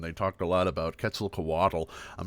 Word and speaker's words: Quetzalcoatl: Yeah, it's often mispronounced as Quetzalcoatl. Yeah, but it's actually pronounced, and this is a challenge for you. Yeah, Quetzalcoatl. So it's on the co in that Quetzalcoatl.